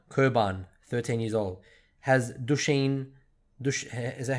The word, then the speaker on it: Duchenne: 9, Kurban, 13 years old, has Duchenne, is that how you say it? Is that Duchenne? Yeah, Duchenne muscular dystrophy.